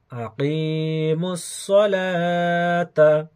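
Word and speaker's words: أقيموا الصلاة: লিখার সময় লিখতে হবে কিন্তু পড়ার সময় আর পড়তে হবে না। সলা, তা যাবার তা, সলাতা। আকিমুস সলাতা, আকিমুস সলাতা।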